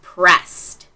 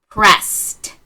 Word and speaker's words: pressed: So that suffix e d is is pronounced as t after an unvoiced sound. All right. So your word is pressed. Pressed.